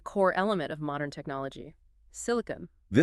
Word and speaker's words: silicon: It should be silkun with a stress on the first syllable